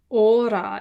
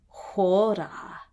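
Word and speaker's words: ὥρα: Of course, those rough breathing marks are what makes it have an H sound. So, ora, if it didn't have the rough breathing mark, but since it is this word, is hora.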